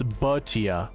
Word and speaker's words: Bhatia: It's Bhatia. Love that. Thank God. Akshay Bhatia. Lovely. We were saying it right the whole time. Bhatia.